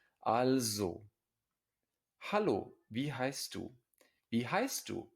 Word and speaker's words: also: therefore and it's pronounced an s before a vowel at the beginning of a syllable is almost always pronounced as a z in german al zhou hello be heist be